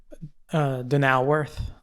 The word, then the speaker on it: Donauwörth: Okay, how do you pronounce that word? Donauwörth. I was not going to guess that.